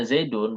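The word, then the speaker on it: زيدٌ: sampai kita membacanya Zaidun, bukan Zaidan atau Zaidin. Ini sebabnya adalah karena adanya fi'il ini.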